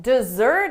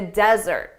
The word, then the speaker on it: desert: How do you pronounce this word? Don't desert us in the desert.